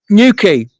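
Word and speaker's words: Newquay: New key. New key. New key. You pronounce that new key. Q UA Y is key as in where a ship ties up.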